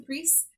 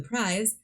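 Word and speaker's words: Prise: have the prize which I have been calling the priests but through recent discovery realize that I'm pronouncing it wrong and they are called the prize and uh the prize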